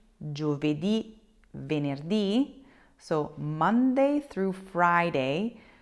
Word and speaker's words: giovedì: with lunedì, martedì, mercoledì, giovedì, venerdì, so Monday through Friday, you will need to put a little accent on that last letter.